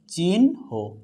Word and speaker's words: চিহ্ন: প্রাণহ প্রাণহ উচ্চারণটা হবে কি প্রাণহ উচ্চারণ হবে চিনহ উচ্চারণ হবে কি চিহ্ন হবে সায়ান হ উচ্চারণ হবে